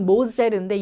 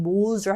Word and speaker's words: Moser: 원래 이거 발음은 Moser인데 영어식은 Moser 해도 돼요.